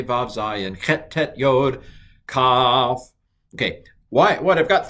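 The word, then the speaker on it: כ: Well, I have it here because kaf is not only a Begad Kafat letter, it can take the dagesh or not take the dagesh, and I'm going to pronounce them both the same. Ka.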